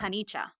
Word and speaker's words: Paniccia: Paniccia. It's still not the hard. Where's the Where's the CH? Oh, CI in Italian is a ch sound, Oh, go figure.